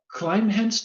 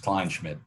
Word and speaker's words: Kleinschmidt: I mean, you know, Scott Kleinhenst, am I getting his name wrong or right? Sammy, how do you say Scotty's last name correctly? Yeah, I can't spell it either. The big guy with the big guns, Kleinschmidt. Kleinschmidt, right.